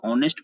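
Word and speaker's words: honest: है स्वर वर्ण है, इसमें भी एच साइलेंट होता है तो ऑनेस्ट पढ़ते हैं, यहाँ भी आ है तो यहाँ भी एन होगा।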